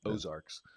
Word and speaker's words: Ozarks: And it is, you know, Ozarks is a kind of an Americanized version of French Ozarks, which is of the rainbows. So I don't know if you've think about that French AUXARCS, but we pronounce it Ozarks.